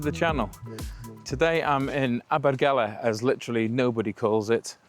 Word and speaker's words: Abergele: Today I'm in Abbergala as literally nobody calls it. Uh Abigeli you might have heard more than anything. Abgala is the correct way to pronounce it.